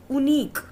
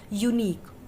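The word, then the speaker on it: unique: Alright, अगर इसका pronunciation होता उनीक, ओके, उनीक ऊ, और होता अनीक अ, तो यहाँ पे हम वॉवल के अकॉर्डिंग एन पुट करते, बट प्रोनाउंसिएशन क्या है? यूनिक। और वाई का साउंड अगर दे रहा है तो हम उसे कॉन्सोनेंट साउंड कंसीडर करेंगे।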